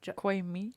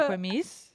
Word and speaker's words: Jacquemus: Jacquemus or something. What is a French name, right? Jacquemus, something like that. Right? Jacquemus. It's a nice Jacques Cousteau. It's literally like Jacquemus or something. Yeah. Jacquemus?